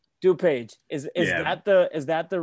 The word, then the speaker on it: DuPage: Yes, I mean here we just call it DuPage. DuPage is that the right pronunciation?